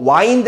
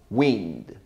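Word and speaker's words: wind: 인대 의미는 바람입니다 요거 와인드 라고 이러시면 안되요 아이가 이 발음이 납니다 w 발음은 입술을 앞으로 쭉 윈드 바람이 부는 하면은 윈디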